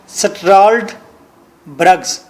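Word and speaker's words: Struldbrugs: سٹاؤٹ برگز، BRUGS، برگز۔ لفظ اصل میں ہے STRULD BRUGS، بنتا ہے سٹرالڈ برگز، آپ اسے کہیں گے سٹارڈ برگز۔ تو گلیور کو بتایا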